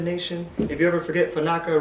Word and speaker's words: Fanaka: If you ever forget, Fanaka rhymes with Maraca, you know, yada yada.